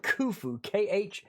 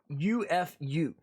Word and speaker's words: Khufu: His name is pronounced Khufu, Khufu.